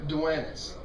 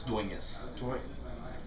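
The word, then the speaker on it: Dueñas: Duenas. That's close. That's pretty fucking close. So how far am I off? Not really that far at all. It's Duenas. Duenas? Duenas. With an N. Yeah. Like, jalapeno.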